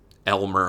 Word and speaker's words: Elmer: I purchased is Elmer Elmer I know people say but it's spelled a y lme Elmer from brain damage the